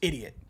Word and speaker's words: Eediyat: Wiley Mia Ryan are thinking that EE DIY eighty is just idiot but that's just how that y'all pronounce it is idiots idiots skank